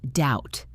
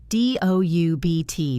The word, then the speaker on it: doubt: The same thing happened with the word doubt. D-O-U-B-T, doubt. The B is silent.